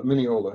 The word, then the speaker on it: Mineola: Mineola, yeah.